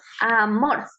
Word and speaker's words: amor: En este caso tenemos mor, son 2 sílabas, entonces donde tenemos la mayor fuerza de voz es en mor, amor.